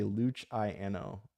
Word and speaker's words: Luciano: Just say luchiano. Luchiano. Luchiano.